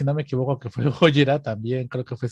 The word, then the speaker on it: Gojira: Se llama así, Shin Godzilla o Shin Gojira en su pronunciación japonesa.